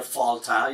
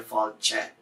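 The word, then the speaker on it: fáilte: The I is not pronounced at all, but it tells you to make the L and the T slender. So you don't get a Falta, you get a Falje, which is what happens here.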